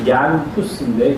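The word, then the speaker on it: Jan Hus: 근데 마지막은 체코라는 데를 갔는데 체코에 가면 거기는 마틴 루터보다도 100년 전에 야누스라는 사람이 얀후스인데 그냥 야누스 그렇게 발음하는 거예요.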